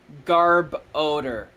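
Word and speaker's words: Garbodor: you pronounce it again Garb odor Garb it's literally just garbage and odor okay Garb odor okay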